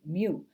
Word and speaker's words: mu: mu is lower case greek letter m u mu pronounced mu to represent the mean so what do